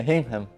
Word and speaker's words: Hingham: Hingham. It is pronounced Hingham.